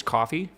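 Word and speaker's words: Ko-fi: Yeah, it's pronounced coffee. If that wasn't clear, though, I'm going to keep saying Kofi, though.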